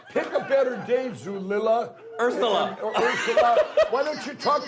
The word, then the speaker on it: Ursula: This will put you out of business, Urzilla. It's Ursula. I finally figured out how you say it.